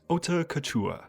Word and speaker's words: Haute Couture: I want to start this video by saying that the title of this album is pronounced Haute Couture.